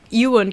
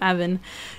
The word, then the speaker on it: Ewan: And Ewan could, I almost called him Evan.